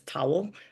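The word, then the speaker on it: Towill: my married name is Towel, spelled T O W I L L, but I go by. So, So it's like pronounced like beach towel same thing.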